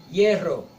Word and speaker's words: hierro: Veja que a pronúncia é ye, né? Ye, hierro, hielo ou yerno, tá?